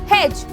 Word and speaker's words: hedge: अगर मैं बोलती हूँ बच्चों हेज, तो यहाँ पे HEDGE होगी करेक्ट स्पेलिंग।